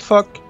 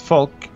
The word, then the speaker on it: Falk: I'm trying to introduce my heir, who's Falk, not fuck, but Falk, of Bamborough, but Bamborough.